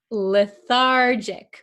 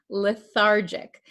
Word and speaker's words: lethargic: Lethargic. Remember this is a JJ- sound. Lethargic.